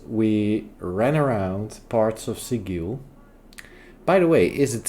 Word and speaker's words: Sigil: It is called Sigil, of course, but you pronounce it Sigil.